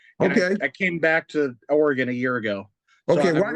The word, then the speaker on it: Oregon: We pronounce it Oregon.